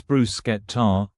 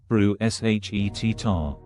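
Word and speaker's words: bruschetta: Mispronouncing Italian food. It's bruskeetar, not brew s h e tar.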